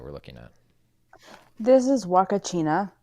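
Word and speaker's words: Huacachina: china just so you guys can see how it's spelled waka china it is a real place in the world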